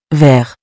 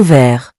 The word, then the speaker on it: vert: The next color is vert, meaning green. For example, un stylo vert means a green pen. Notice that the T is silent, so we pronounce it vert.